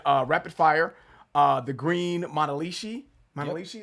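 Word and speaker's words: Manalishi: Monalishi, is that what it was? Yep, that's what we, I just want to make sure I was pronouncing that right.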